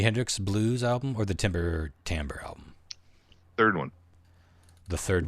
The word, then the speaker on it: Timber Timbre: Wait, Timber like timber and then Timbre. Yep. Yeah. I thought you said timbre. That's my reality is that's how it's pronounced.